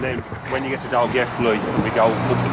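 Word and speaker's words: Dolgellau: Or if you read it on the map, it sounds like it's saying Doggaloo. That's it on the sign there, yeah, eh? Pronounce it Dalgethley.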